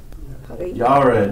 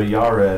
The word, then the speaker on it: Jared: It looks like Jared, right? How would you say it in Hebrew? How does, huh? Yared, yeah, very good. So Yared, or, yeah, it means shall come down or shall descend.